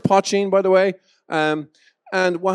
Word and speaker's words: poitín: So it's pronounced poitín, by the way.